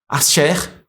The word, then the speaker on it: Aser: Quem foi Axé? Axé, olha aí. Ou Asser. Axé, vamos lá do lado, tá aqui do lado. Asher, tá aí a pronúncia certinho.